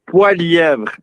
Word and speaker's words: Poilievre: It's Poilievre, and there's only in Quebec that we can say it correctly.